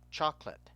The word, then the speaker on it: chocolate: So the A has a short sound, and the E has no sound. So if you spelt chocolate, C-H-O-C-L-A-T, for many people, it would be much easier to understand the pronunciation.